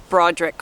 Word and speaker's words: Bruadarach: whatever you want so the way we pronounce the farm name is Broderick Farm I recognize it looks